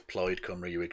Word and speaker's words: Plaid: the snp in wales it's played cummery um and it's it's ployd it is plaid comrade yeah he is an